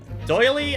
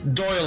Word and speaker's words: Doyle: In Japan, he is public domain, but he is owned by the Doily estate? Is that how it's pronounced? Doyle Estate.